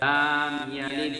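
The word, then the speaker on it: لَمْ يَلِدْ: লাম ইয়ালিদ, এখানে একটু লামে টান পড়ে গেছে, কিন্তু টান হবে না।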